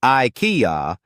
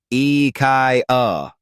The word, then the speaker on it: IKEA: like a true Enthusiast you might say IIA but it's actually pronounced the Swedish way eai focus on Switching up